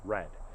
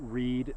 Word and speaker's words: read: can see that clearly this word is meant to be pronounced red but if you change the sentence can you read the menu can you read the menu now the sudden the word is pronounced totally differently simply by changing the